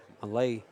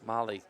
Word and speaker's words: Malaj: Malay. Malay. That that J is is silent and the A is like an I. A A J is like an I. Malay.